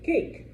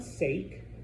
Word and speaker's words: cake: It's sorry before A's, O's, and U's. It's what we call a hard C. So what is that word in English? Cake. It's not sake. Okay. It's cake. C C sounds like a KP.